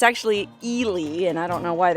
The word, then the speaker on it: Ely: of people see it written and think it's pronounced eli eli's coming had your heart girl no it's actually eely and i don't know why they pronounce it